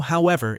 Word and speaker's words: however: Notice how however is pronounced. However, with the stress on the second syllable.